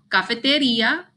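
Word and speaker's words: cafetería: It's pronounced la cafeteria. The only difference is here in English, we don't have accents, but in Spanish, there's an accent. It falls over the I.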